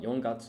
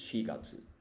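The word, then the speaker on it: 四月: There are actually 2 ways to say 4 in Japanese. You say yon when you're counting, but for months of the year, the reading is shi, or that's how you pronounce it. So this is not yongatsu, it's shigatsu.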